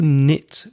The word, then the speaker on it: knit: and what do you knit with or one thing about knitting it's a silent K so the spending is KN IT the pronunciation knit so it's spelled with a k but it's not pronounced knitting needles are the